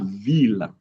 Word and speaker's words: ville: But there are words that don't go with that rule generally. There are not that many. We have ville, city, mille, thousand, tranquille, tranquility. But other than that, we